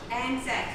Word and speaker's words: Anzac: How do you pronounce it? Anzac.